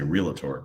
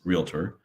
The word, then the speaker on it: realtor: know a realtor or some people mispronounce and say realator but it's realtor versus an agent and